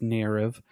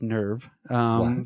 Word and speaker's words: NERV: this point right nerve which is not pronounced nirav it's nerve you know whenever you